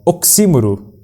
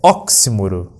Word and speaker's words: oximoro: o nosso querido Google ela não deve ser pronunciada com uma proparoxítona oxímoro é errado ou oximoro o correto é oximoro fica aí pro vocábulo